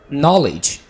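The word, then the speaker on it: knowledge: नहीं कहते okay net नॉलेज यह वाला शब्द तो हर बांदा उसे कर रहा होता है नॉलेज तो आपके नॉलेज नहीं कहेंगे केक हो साइलेंट रखेंगे क्योंकि रूल क्या है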